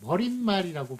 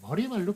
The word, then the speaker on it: 머리말: 예, 머릿말이라고 발음합니까? 머리말로 발음합니까? 예, 머리말로 발음해요.